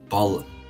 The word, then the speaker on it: Balliol: College education, For her university studies, she attended, please excuse me if I mispronounce this, is Balliol. It's Balliol, Balliol College, Oxford.